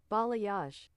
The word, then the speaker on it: balayage: That's the gradient How do you pronounce this word? Ba ba. Ballay. Balayage.